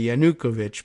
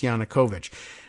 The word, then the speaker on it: Yanukovych: former Ukrainian president Victor Yanukovych I think we've learned that his uh name is pronounced that way I used to say yanukovic but I guess it's Yanukovych this is where things turn